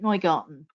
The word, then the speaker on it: Neugarten: of the family um spell it not nighgarten but pronounce it noygarten and we're not sure